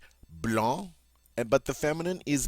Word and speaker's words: blanc: the color for white blon in the masculine normally we pronounce final C's but not in this case all right Blan and but the feminine